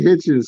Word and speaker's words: Hitchens: I meant to say Hitchens, son. My I fault. call him We call him Africa. That's We the call him man with the Africa. 2 last names. That's a man with Hitchens.